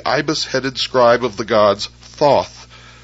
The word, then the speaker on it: Thoth: Egyptians as the ibis-headed scribe of the gods Thoth, pronounced Tehuti.